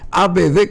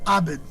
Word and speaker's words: Abd: mis años eh abd Cómo se pronuncia tu apellido abd es eh se puede pronunciar AB o se puede pronunciar cuando estaba en Siria se pronuncia a veces abed sirio mis abuelos eran